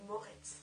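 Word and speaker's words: Moretz: morz et Moret Moret Chloé Moret prononciation est mieux et du coup la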